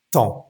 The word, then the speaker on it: temps: La palabra tiempo se escribe temps, pero simplemente la e y la m nos va a dar como unas un sonido nasal y va a sonar t. Nuestra boca termina abierta y nos olvidamos de esa p y de esa s.